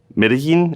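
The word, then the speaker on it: Medellín: best ice cream PWA ever in, let's say, Medellin, is that how you pronounce that? Perfect. Yes. So if you build the best PWA to order ice cream online in Medellin, then I don't know about that, especially if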